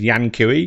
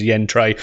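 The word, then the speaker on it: Yan Cui: to pronounce his name i might have referred to him in the previous stream as yan kui because that's how it's spelt but obviously and uh yen is from uh uh the uh the east and so his uh his actual pronunciation is yen trey one of the ama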